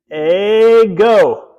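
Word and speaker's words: ἐγώ: Let's pronounce it. Go. Ego, right?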